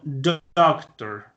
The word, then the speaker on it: doctor: En español yo digo doctor. Miren que la fuerza está en la segunda sílaba. Mientras que en inglés yo digo doctor. O sea que como que empiezo subiendo y bajo. O sea, empiezo con la voz arriba y voy cayendo.